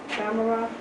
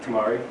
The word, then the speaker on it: tamari: If I didn't do the or whatever, tamara, The tamari. tamari. Yep. I said it right, yeah.